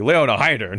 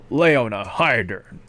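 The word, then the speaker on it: Leona Heidern: The Japanese pronunciation. You gotta say it fast too, like Leona Hydern. Like there's no like space between like Leona Hydern.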